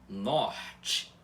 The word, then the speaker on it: norte: Bom, o N não tem mistério nenhum aqui nessa palavra, não é mesmo? O que parece ser diferente é esse O aspirado, que vamos estudar em